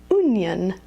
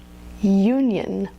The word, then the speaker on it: union: Almost every college has a student union, and I've heard a lot of students call it the onion or the union, but this is the diphthong u, union.